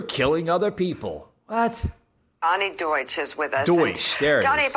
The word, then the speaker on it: Deutsch: Donnie Duchess, if I'm pronouncing that right.